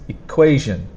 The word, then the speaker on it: equation: it's t i now when you pronounce it you need to remember that the second sound is the strong sound it's equation equation the second sound is the strongest sound pharaoh pharaoh this is